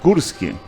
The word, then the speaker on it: Gorski: Vamos saber quem é então Nara Gurski. Eu sempre digo Gorski, porque cada um, né, sua forma de dizer, mas é Gurski, né, mas se escreve com O.